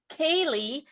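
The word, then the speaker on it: ceilidh: held in formal gatherings called caylee meaning social gathering see i like when they give me the pronunciations there all right which often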